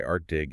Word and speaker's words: ArtDig: interconnected essays published by ArtDig, and just a quick note, that's ArtDig with a hard G, rhyming with big.